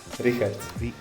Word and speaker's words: Richard: Richard. It's a Latvian name. Yeah, Richard. It's like Richard, except like we pronounce it in a strange way.